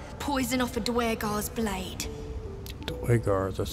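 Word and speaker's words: Duergar: Dwargar, that's how you pronounce it.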